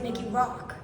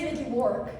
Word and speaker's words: Mickey Rourke: I thought this whole time his name was Mickey Rock. Because his name is Mickey Rourke.